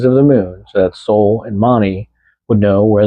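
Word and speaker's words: Sól: Soul pronounced like the English word soul.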